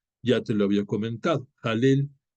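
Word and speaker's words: Hallel: te lo había comentado halel se escribe con h se pronuncia como si fuera j jel y estas serie de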